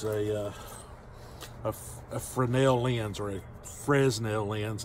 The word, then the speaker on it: Fresnel: framel lens or a Fresnel lens I think it's pronounced for a nail it's spelt Fresno so